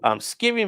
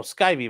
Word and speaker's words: Skivvy: Skivvy Man. The name rhymes with Sky. Oh, Skyvy Man.